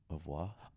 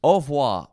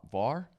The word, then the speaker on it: Au revoir: Au revoir. Oh, right. All right, everyone. Au revoir? Au revoir. Is there an R? Yes, but you don't pronounce it. Au revoir. Var?